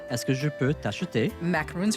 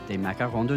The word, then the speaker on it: macaron: Can I buy you macaroons from Nichollet? Macaron Nichollet.